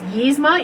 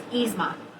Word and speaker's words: Yzma: as a y so I try to pronounce it as yizma even though I know it's yzma so that's what that